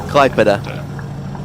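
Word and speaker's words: Klaipėda: It's pronounced Klaipeda. Nice. The AI is kind of an EI.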